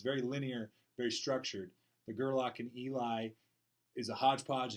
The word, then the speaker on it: Gerlach: So I'd rather go more Scottish than anything else with Gerlach, and so that's how I'd like to say it, and I'm going to say it like that.